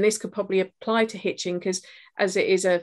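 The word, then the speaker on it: Hiz: Hitchin has a river running through it, the Hitch, spelled H-I-C, I believe, pronounced Hitch.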